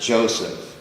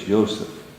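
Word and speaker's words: יוסף: It's Yseph. So, what you have here, this this is the Yseph. Yes. Exactly as any Hebrew speaking person would pronounce it.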